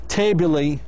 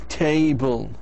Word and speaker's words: table: it we don't say table that's wrong that's incorrect we say table so the E is silent it is silent ENT